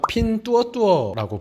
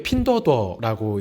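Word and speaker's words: Pinduoduo: 알리바바의 타오바오, 징동닷컴, 핀뚜어뚜어라고 부르는 기업인데 가볍게 핀더더라고 읽어주시면 될 것 같아요.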